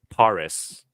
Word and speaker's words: Paris: Olympics Paris oh Paris I believe it's pronounced in the french Paris okay 16 shooter okay